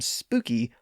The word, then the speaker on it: spook: The Dutch word spoke meant a ghost and that form of the word appeared in American English first, though the pronunciation was altered to spook, presumably based on the spelling and its resemblance to words like spoon and spool.